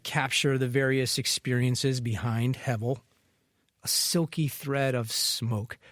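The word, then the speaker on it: הבל: Hevel, spelled Hebel, but with the B pronounced as a V. There are other images besides soap bubbles that could capture the various experiences behind Hevel.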